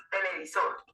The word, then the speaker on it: televisor: ¿Dónde lleva mayor golpe de voz? En sol.